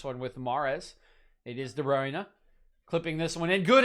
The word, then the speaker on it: De Bruyne: to figure it out sounds like it is de bruyne and here is de bruyne standing over this one with mares it is de bruyne clipping this one in